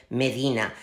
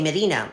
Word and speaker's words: Medina: I'm at I always introduce myself as Medina um and folks have tried to call me